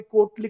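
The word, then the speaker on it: Carew: में मैंने कहा कि कोर्टली कवि थे। तो रॉबर्ट कैरिक है, रिचर्ड लवलेस है, टॉमस कैरी है एंड जॉन सकलिंग इनको कैरी प्रोनाउंस करते हैं।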